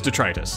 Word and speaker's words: detritus: How's this pronounced? Detritus. Detritus. Okay, it is detritus.